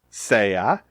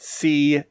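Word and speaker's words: sea: endings but notice it is saya say us saya say ammos say ice say on note also that this is pronounced saya and say us not C and C's remember your vowel pronunciation in Spanish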